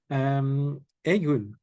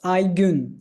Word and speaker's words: Aygun: Egun, if I'm pronounced correctly. Hello, it's Aygun. Aygun.